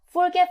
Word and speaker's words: forget: 표현을 쓰면 더 좋겠죠 자 오늘 중요한 것은요 발음을 배우는 거예요 자 forget forgot forgotten 이겁니다 forget forg요 뒤에 강세가 있어요 forget forgot 이렇게 오케이